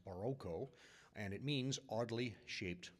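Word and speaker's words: barroco: The word is derived from Portuguese and it in Portugal it's pronounced Baroco and it means oddly shaped pearl.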